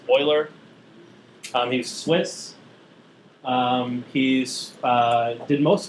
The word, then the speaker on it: Euler: His name is pronounced Euler, not Euler. It's Euler.